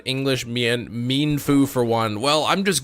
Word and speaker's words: Mienfoo: You pronounce it Mienfoo. That's the thing. Many Pokemon names are not English. Mienfoo for one.